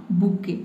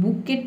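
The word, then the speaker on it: bouquet: और फिर उसने क्या किया कि पिक्ड अप अ बुके। ठीक है, अब देखिए यहाँ पे इसको हमको बुके पढ़ते हैं, बुकेट नहीं होता है, ये होता है बुके। इसमें जो टी लेटर है ये साइलेंट है।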